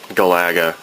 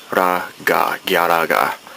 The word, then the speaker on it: Galaga: Some people pointed out that I was saying Galaga, and that's just how I grew up saying it. But for those who are purists, it's Galaga.